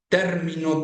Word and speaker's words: término: You have three-way contrasts, for example, in situations like término, termino, and terminó. Those are three different forms of the verb terminar, and also a noun related to that. And changing the position of the stress syllable, you change the meaning of the word.